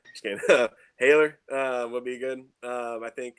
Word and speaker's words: Haller: Allaire, that's how you say his name. Haller. Both or neither? Well, I'm gonna say like American Holler. Just kidding. Haler would be good.